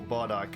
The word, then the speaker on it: Bardiche: want to start using the Bardiche, or Bardike, as some of the Germans might pronounce it.